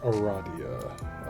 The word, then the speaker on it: Aradia: It's pronounced Aradia.